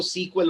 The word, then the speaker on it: SQL: Right, USA side में इसको सीक्वल पढ़ा जाता है, वहां ज्यादा पॉपुलर आपको सीक्वल वर्ड मिलेगा।